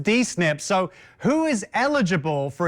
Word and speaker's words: D-SNP: Well, Marian, you've already taught me something that the acronym is pronounced DNIP.